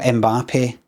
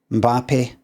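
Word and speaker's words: Mbappé: It's not Mbappe. It's Mbappe. Mbappe very quickly. See, it's like saying B, but first you go, look at this.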